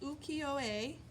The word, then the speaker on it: ukiyo-e: it's very special the third one here is pronounced Yukio a and it's woodblock print making now we didn't